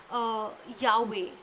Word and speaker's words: Yahweh: shift or balance more towards Yahweh, YHWH, as how it must have been pronounced.